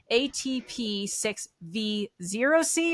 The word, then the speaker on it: ATP6V0C: I'm saying it right atp6v zc or OC so break that down for me a little bit correct me so written it's a zero um we tend to say o kind of like we